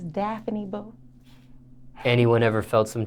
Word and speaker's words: Daffini: wrong all the time yeah it's daphne it's daphne bo anyone ever felt some type of way